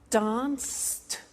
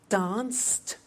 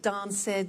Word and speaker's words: danced: II pronounce the T danced laughed washed and walked okay now the temptation is to say watch it Dan said the laughs ed wash it but we eliminate the e and we add T okay watched danced good